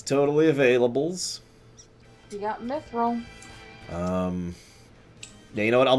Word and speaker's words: mithril: Mithril.